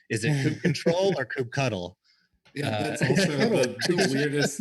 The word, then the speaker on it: kubectl: I feel like I've always said kube control.